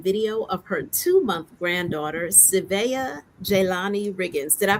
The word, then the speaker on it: Savaya: Her brain and heart overflow with audio and video of her 2-month granddaughter, Savaya Jelani Riggins. Did I pronounce that correctly, Savaya or Savaya?